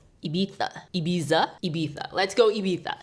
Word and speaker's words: Ibiza: How do you pronounce Ibiza? Ibiza.